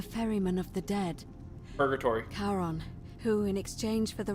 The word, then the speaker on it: Charon: Only your pronunciation is a little off. The name you heard wasn't Karen. It was C-H-A-R-O-N.